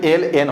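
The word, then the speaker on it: ln: কেন, তো এই যে লন আছে এটা দেখে অনেকে ভয় পেয়ে যাবা। তো এটার উচ্চারণ কিন্তু আসলে এল এন হবে, বাট আমি কথার সাপেক্ষে আমি লন বলতেই পারি।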